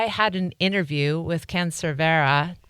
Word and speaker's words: Cervera: And I had an interview with Ken Cervera. Correct pronunciation there, right, Ken? You nailed it.